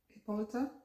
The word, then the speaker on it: Hippolyta: i should just call the top country hermia hippolyta is how you say that one demetrius lysander